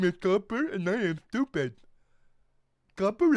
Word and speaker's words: Copper: It's not Cooper. I don't care about Interstellar or Twin Peaks. My name is not fucking Cooper. It is Copper.